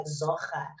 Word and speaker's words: Zohra: name, and how I write it sounds like Zohra. And you said to me, actually, that's how your name is pronounced, or should be rather, right?